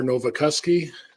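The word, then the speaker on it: Nowakowski: and spell each my name is R novakoski first name is spelled p Au L middle initial is R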